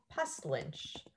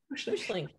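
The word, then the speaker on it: Puslinch: But the actual it's the county of Wellington, but I'm actually moving to a town called Pestlynch. I think that's how you say it. Pushlink, isn't it? Pushlink.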